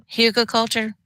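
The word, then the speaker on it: Hugelkultur: trying to pronounce it Huka culture yes thank you that's how you say it I mean if I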